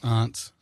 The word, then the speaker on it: aunt: That's how it should be pronounced. Aunts.